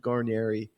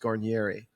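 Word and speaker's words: Guarnere: guy he was, and Garnier. Yeah, they call him Garnier, but in the Ambrose book, it's pronounced Garnieri.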